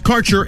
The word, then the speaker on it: Kaercher: Your connection to quality cannabis insurance services is spelled Kaercher. That's Karcher Insurance.